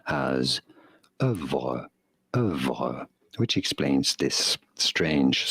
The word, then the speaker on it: oeuvre: It is usually said in British English as œuvre, œuvre. imitating There's no the French fucking F. pronunciation. That's in British. American English, however, this is usually said as ouvre, ouvre in American English, or oeuvre in British English.